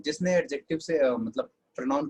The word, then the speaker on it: adjective: हूँ, एडजेक्टिव एडजेक्टिव एडजेक्टिव, लेकिन असल में डी साइलेंट होता है। अब अपने आप से बोल के देखो क्या साउंड आएगा, एडजेक्टिव्स, राइट।